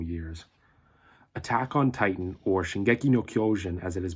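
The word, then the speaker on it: 進撃の巨人: Attack on Titan, or Shingeki no Kyojin as it is pronounced in Japanese, is a Japanese manga, and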